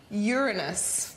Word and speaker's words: Uranus: kids here at the planetarium and that is uranus but did you know it's actually pronounced uranus which i also think is pretty funny